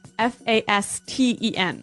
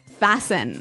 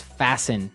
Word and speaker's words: fasten: interesting yes it's spelled f a s t n right so it would be Fast N no no right fasten fasten the T kind of becomes silent so it's fasten yep okay let's look